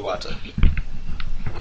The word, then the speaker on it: Iwata: Nintendo Direct has just finished airing, and Nintendo President Satoru, I can't pronounce his last name, has revealed the Iwata. Yeah, Satoru Iwata.